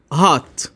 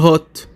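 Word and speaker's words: hot: هات وعكسها كولد كولد خلي بالك احنا بنقول هات مش هوت بنقول هات هات علشان احنا بننطق باللهجه الامريكي بالامريكان اكشن مثال ماي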